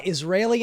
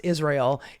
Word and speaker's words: Israel: briefed in Israel by Israeli intelligence and sent back to make the case for Trump. By the way, Mehdi, it's not pronounced Israel, it's pronounced Israel.